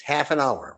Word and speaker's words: Haffenhauer: It's not spelled like half hf. It's half an hour. One word. H a fen ha. Herkinbower half an hour.